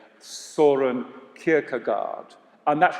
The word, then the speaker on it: Søren: What the Danes say is Søren Kierkegaard, Søren Kierkegaard.